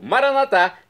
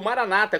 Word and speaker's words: maranatá: E agora do dialeto de Jesus, o aramaico, maranatá, como dizemos nóss católicos, ou maranata, como dizem nossos irmãos separados das comunidades evangélicas ou protestantes. Não importa a pronúncia, o significado é o mesmo.